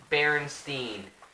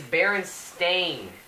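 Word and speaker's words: Berenstain: always read the name as Baron Steen with s t i n okay at the end no it's not that it's not what I remember it is Baron stain yes the baron stain bear it's spelled s t a i n I do not remember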